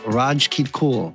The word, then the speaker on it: Rajkitkul: All right, well, we have Rajkitkul.